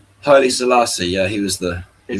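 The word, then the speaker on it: Haile Selassie: So, it's further uh Hi Salassi, right? Did I say it right? Hi Salassi.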